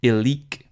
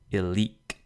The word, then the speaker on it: illic: long syllable is lost, the stress falls on the last syllable. So, illic, which means there, originally was illique, but the e fell off. However, this doesn't change the accent, though it's still on the leak, illic.